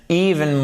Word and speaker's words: even: Even, accent tonique sur la première syllabe, vous l'avez compris, c'est un i long.